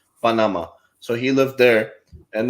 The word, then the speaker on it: Panama: He lived in Panama, as the American people say Panama. Generally it's pronounced Panama.